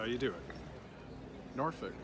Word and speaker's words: Norfolk: age and pronounced that way how do you pronounce the words that are spelled and suf okay so if you say noir folk or soft folk we gotta get slap up the side of that try Norfolk and Suffolk that's how you do it Norfolk